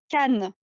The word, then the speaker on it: Cannes: Did Ella just send me a DM on how to pronounce the name of that film festival? Cannes.